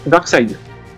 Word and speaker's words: Darkseid: C'est Darkseid. Une bonne réponse. Bon. 3 points sur cette question moyenne. Il prononce bien, c'est bon.